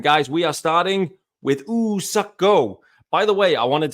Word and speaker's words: Woo-Suk Go: I didn't catch it at the time, but there's no W in the pronunciation of like woo. It's ooh. So it's not Woo-Suk Go. It's Woo-Suk Go.